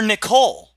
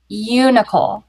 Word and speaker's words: Unicole: You're Nicole. Aren't you, Nicole? Unicole. You're saying it wrong.